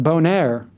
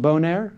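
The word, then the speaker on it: Boehner: You have Eric Cantor, the House Majority Leader, and John Bonnaire, I think it's pronounced. Is it Bonnaire? I think it's Bonnaire. I think it's French-Canadian. It's Bonnaire, right?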